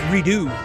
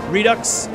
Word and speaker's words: Redux: But then I was like, wait, what if it's Redo? What if the X is silent, you know? Because I used to say Redux, and I guess that's the right way. Redux.